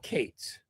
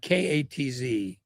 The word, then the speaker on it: Katz: Their owner, guy named Daryl Kates. Yeah. Celled Katz. There is no one else on earth with a surname K A TZ who doesn't pronounce it Katz, but he's Kate's.